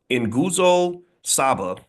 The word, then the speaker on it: Nguzo Saba: The holiday is built around Nguzo Saba. Just don't get mad at me for mispronouncing it.